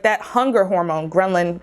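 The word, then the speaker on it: ghrelin: like that hunger hormone grenlin gremlin it's not gremlin i hope i'm saying it right it releases that hunger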